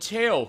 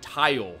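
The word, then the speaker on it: Tael: Yeah, those are Tattle and Tail, who actually pronounced wrong forever until I met you, honestly, because I thought, oh, it's the Japanese pronunciation of T-A-E-L and T-A-T-L, so I saw it as Tattle and Tile, so it's like Tottle Tile, but Tattle Tail.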